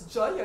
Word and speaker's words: Jaya: It's Jaya, it means victory or peace.